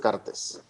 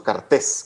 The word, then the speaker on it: Cartes: Horacio Cartes. Y creo que es incluso Cartés, creo que es Cartés se pronuncia.